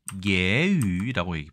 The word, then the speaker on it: 揶揄: 중국에서는 똑같이 예유라고 발음합니다. 예유.